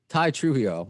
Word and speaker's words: Tye Trujillo: made you wait long enough is that ty trujillo am i pronouncing that right by the way that's correct